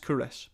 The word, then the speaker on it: Culross: It's spelt Culross, but it's pronounced Kouros.